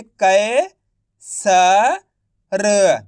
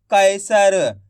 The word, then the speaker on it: कैसर: तो कैसे उच्चारण करेंगे, कै स र तो मिलकर बन जाएगा कैसर। आइए समझ में, ऐसे नहीं केसर, कैसर।